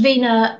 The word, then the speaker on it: Wiener: as you can hear he pronounced it the German Way and there's Dr Vena and he was a